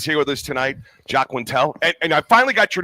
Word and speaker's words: Quintal: So Quintal. I figured you say it like L, like it's an L, but it's AL. So he's saying Quintal. I've always said It's Quintal. Quintal.